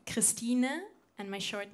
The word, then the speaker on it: Christine: In German, you pronounce my name Christine, and my short name is Stine.